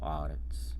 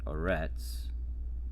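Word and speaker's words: ארץ: pronounced the audits and this is the word for earth audits and it's not arets according to the masoretes it's audits so you put the accent on the first syllable of earth audits not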